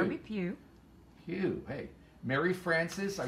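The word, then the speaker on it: Pugh: How do you pronounce that, Cheryl? Pew. Kirby Pew.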